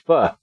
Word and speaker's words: pho: Yeah, I was going to say, I could go for a bowl of pho. I guess that's how you properly pronounce it, is pho.